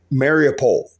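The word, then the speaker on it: Mariupol: broadcasts I did about Mary opal marry a pole is the other way to pronouncing Mary opal mariopol down in the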